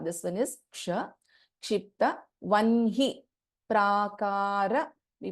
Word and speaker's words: वह्नि: Even then we pronounce this as vanhi only.